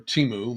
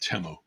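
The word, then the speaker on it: Temu: Recently on Teu or Teimu, my wife and I were calling it Teimu early on and we kind of stay with Timu even though I think I've heard the proper pron uh pronunciation being um Temo.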